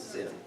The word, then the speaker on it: Sin: the pronunciation is that it is pronounced as Sin um and you know